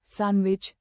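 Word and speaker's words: sandwich: उदाहरण bridge bridge, as एज, सैंडविच सैंडविच।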